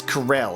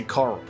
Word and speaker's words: Corel: I've already dispatched troops to Corel. Alright, it's Corel. I keep having to correct myself because of how it's been pronounced in the recent game. I always want to say Coral.